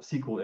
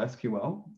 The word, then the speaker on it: SQL: So I'll just first talk about what SQL is, or SQL, depending on your pronunciation preference.